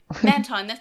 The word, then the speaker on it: Mantine: Wait, Mantine. That's right. That's how it's pronounced.